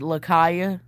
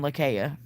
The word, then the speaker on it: Lakaya: You can also pronounce it Lakaya, too. But I grew up with it being Lakaya.